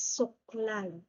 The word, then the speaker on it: suklay: Next is, if you can hear, the root word is suklay. Suklay. But we only double the SU. Okay, the rule is, okay, you only double the first syllable you double the first syllable, only the consonant, the first consonant and vowel. Okay, so the first consonant